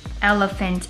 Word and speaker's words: elephant: up at the bottom elephant is spelled e it's a big one e l e p h and the pH make the f sound just like we hear phone pH sometimes says fa